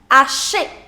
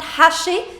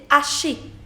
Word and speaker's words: hacher: To chop is known as hacher, hacher. Remember, you don't pronounce the letter H in French, so it's not hacher, c'est hacher, hacher.